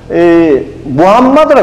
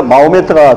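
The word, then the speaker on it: Muhammad: 여기 아까 얘기한 아라비아 반도 AD 570년에 무함마드라 그럽니다. 원래 그 사람들 이름은 무함마드인데 이걸 이제 영어식으로 읽으니까 마호메트가 되는데 요새 지금 싸우니까 이 소위 아라비아 이슬람들은 이 마호메트를 그러면 굉장히 기분 나빠하는 거예요.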